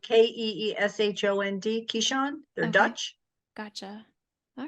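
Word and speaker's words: Keeshond: like related to a Pomeranian he's actually a caisson it's spelled k-e-e-s-h-o-n-d Keyshawn the Dutch gotcha all right well it is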